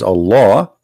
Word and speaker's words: Allah: al hamdu lillahi laughs the first one pronounced as a law the second one it